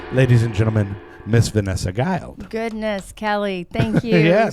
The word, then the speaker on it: Guild: Her name is Vanessa, and it is Guiled. Correct. Right? That's it's spelled it.